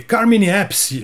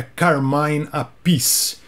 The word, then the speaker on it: Carmine Appice: eu cheguei e falei Carmine appice ele falou Pô desculpa cara serrou os dois nomes o nome segundo o próprio É Carmen appice Carmine appice logo o